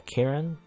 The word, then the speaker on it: Kieran: Or Kieran, yeah, Kieran? That's how you pronounce it, Kieran? A hard C.